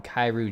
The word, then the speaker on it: chi: up thank you sonic the chi in kairu jen is the greek letter oh like kai i see same so